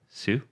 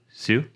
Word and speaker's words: Hsu: led by Tony Hsu how do you say that Sue Sue yeah uh Tony Sue formerly